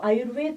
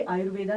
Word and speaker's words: आयुर्वेद: अब वो एक भाषा का हो गया है कि VEDA, तो वेदा वेदा वेदा, लेकिन जो आयुर्वेद पढ़ते हैं वो कभी आयुर्वेदा नहीं बोल सकते, आयुर्वेद बोलेंगे। तो correct pronunciation is आयुर्वेद, नॉट आयुर्वेदा।